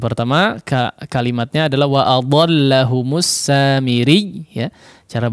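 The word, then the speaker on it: السامري: Samiri jangan dimatikan ri. Nah, tidak, tapi tetap mengalirkan suara ya. Meskipun di awal menekan samiri ri.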